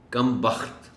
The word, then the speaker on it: کم بخت: خاص توجہ چاہیں گے۔ کم بخت، اس لفظ میں دیکھیے بخت ہے، خے پر جزم کا استعمال ہوا ہے۔